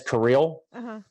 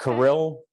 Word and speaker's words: Kirill: To me, he says Kirill, not Kirill.